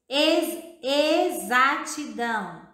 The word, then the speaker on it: exatidão: Exatidão. Flexível. Observe que a palavra exatidão, a sílaba tônica está no som mais forte.